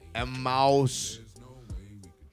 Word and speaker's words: Emmaus: Emmaus.